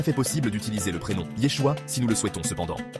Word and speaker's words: Yeshua: ce temps était l'araméen, Jésus a été nommé par un prénom hébreu, qui était donc Yeshua, prononcé au quotidien avec la prononciation araméenne Yeshua.